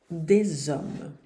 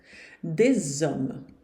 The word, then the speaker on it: des hommes: Des hommes. Uns homens. Des hommes. Cuidado para não dizer des hommes. Esse final não se pronuncia aqui, hein? Des hommes.